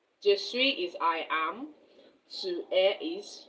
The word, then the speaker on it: je suis: But the s at the end is silent.